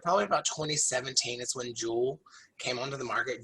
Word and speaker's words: Juul: So it's not spelled the same way as you think jewel, as in like jewelry, J-U-U-L.